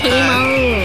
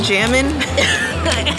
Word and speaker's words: jamón: Hamon. Hamon. Can I have some of that jamming? Oh gosh. If you say it correctly.